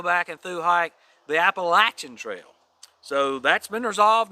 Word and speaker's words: Appalachian: call it there's two different pronunciations but the pronunciation that is now been resolved it is officially called the appalachian trail not the appalachian if you were through hiking the appalachian then